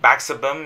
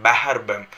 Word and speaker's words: Bahar Bem: My subscriber sir, you should not pronounce like Baxer Bem, you should pronounce like Bahar Bem.